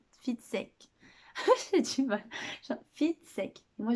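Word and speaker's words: Fitzek: C'est pas Fistek, c'est Fitsek.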